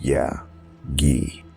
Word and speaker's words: Yazji: The woman, Yazji, pronounced Ya-Gi, stated she was Hassan's wife.